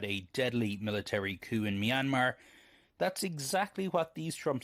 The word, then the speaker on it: Myanmar: they can't even like can you at least say it right it's myanmar investigation and at the